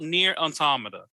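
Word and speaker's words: NieR: Automata: bet it's on game pass go look up near automata go play near automata that's a that's a really dope experience really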